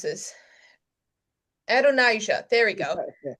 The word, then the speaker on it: Adonijah: At the same time that's happening, now we have I should have thought about how to pronounce this. Adonijah, there we go. Adonijah, son of Haggith, who is the next in line to the throne.